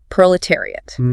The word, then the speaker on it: proletariat: Proletariat pronounced prolanire lidotary that middle section those syllables terry seem complex and often missed careful articulation is needed there it is tricky